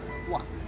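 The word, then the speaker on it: kaj: that in Slovenian language there is a word Kai which means what what is this but people in some areas around the pronounce this like qua in French manner qua qua qua like a sound of a frog so let's say residents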